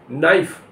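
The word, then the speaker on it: knife: रखना मैन धमकी देना के एन आई एफ आई यहां कैसे साइलेंट है नाइफ नाइफ मैन चाकू ए एन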